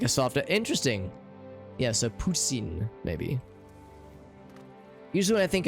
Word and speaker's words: poutine: He said Putin. The French-Canadian accent Had like a soft, interesting. Yeah, so poutine, maybe.